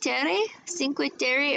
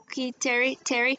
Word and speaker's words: Terre: I have specifically Cinque Terre or Terre. It's spelled Cinque and then Terre, Terre, in Italy.